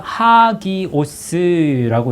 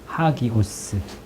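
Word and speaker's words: ἅγιος: 그래서 요 처음에 요 이제 1페이지 보시면 1페이지에 그 헬라어가 하기오스라고 읽습니다. 하기오스.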